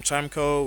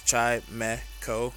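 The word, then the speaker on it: Chimecho: Some people call him Chimco, which is it's Chimeco, but it is what it is.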